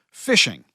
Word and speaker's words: phishing: scams and family scams fishing that's spelled pH not F in case you didn't know that's got nothing to do with fish it refers to the bait you get an email or a